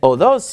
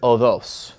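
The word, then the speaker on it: ὁδός: And again, we're using modern Greek pronunciation, so we're ignoring the breathing marks, which are no longer pronounced. So, how do you think we could remember the word odos?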